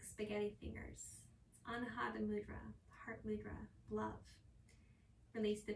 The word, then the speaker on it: mudra: This is Anjali Mudra. It's actually pronounced mudra, I learned. So if you catch me saying mudra, just know that I'm trying to correct myself.